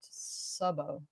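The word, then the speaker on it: Szabó: thanks Walt you welcome Sabo is Hungarian it's pronounced Sao okay cool did you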